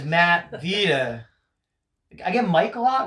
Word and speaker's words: Matt Vita: um I get the people get my name wrong a lot which is like crazy like Vita my name is Matt Vita I get Mike a